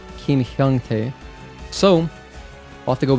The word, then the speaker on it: Hyungtae: Oh, his name is spelled Hyungtae. What? I forgot. I thought it was Hyuntae for a moment.